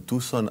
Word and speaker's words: Tucson: Se pronuncia en inglés Tucson. Tucson. Es como una S, sí.